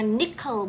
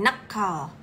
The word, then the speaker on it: NCKL: dulu terus si nckl gimana ini bacanya nickel bukan neal nckl eh hari ini hijjau